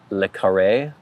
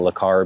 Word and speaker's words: le Carré: I think it's Le Carré. I was saying Le Carré before.